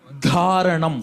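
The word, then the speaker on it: धारणम्: Dharanam. 4th dha.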